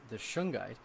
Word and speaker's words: shungite: A friend of mine I spoke with the day afterwards, after that interview, and he brought up that he had been taking shungite.